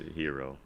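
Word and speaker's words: Herro: Or is it Hero? I definitely mispronounced his name. Pretty sure it's a Hero. Like I Hero. need a hero.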